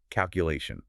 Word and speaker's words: calculation: by this first word, calculation. Okay, let's repeat it slowly. Really focus on that third syllable stress. Calculation. Listen again, get the rhythm. Calculation.